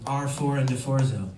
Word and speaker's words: R4ND4ZZO: Welcome to R4 and DeForzo. That's how you pronounce it, in case anyone was wondering.